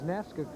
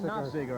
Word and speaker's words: Nafziger: That time, I think it was Nafska. I always have a hard time pronouncing it. Dana Nafziger, I think it is. Yeah, that's it.